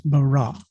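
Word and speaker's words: ברא: A, but it's pronounced, with the syllables the way it's pronounced in the Hebrew is bara.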